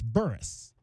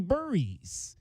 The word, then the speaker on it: Burris: his uncle claims that the oldest brother in the family claims that it's Burris, and that's what the grandfather, obviously the patriarch, I should say, matriarch mom, patriarch dad. The patriarch in the family pronounces it Burris. The older brother pronounces it Burris. Apparently somewhere the younger brother and Braden changed it to Burries, which is what everybody has gone with here.